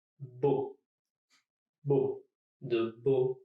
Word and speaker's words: beaux: Beau, comme de beaux châteaux. Here, E, A, and U all together just make an O sound, and the X is completely silent. Beau, beau, de beaux châteaux.